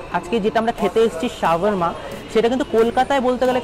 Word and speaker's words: shawarma: অনেকে এটাকে শাওয়ারমা বলে, কেউ শর্মা বলে, বাট এটার অ্যাকচুয়াল প্রোনাউন্সিয়েশন কিন্তু শাওয়ারমা।